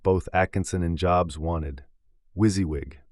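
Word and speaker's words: WYSIWYG: Wizzywig, pronounced Wizzywig, an acronym for what you see is what you get.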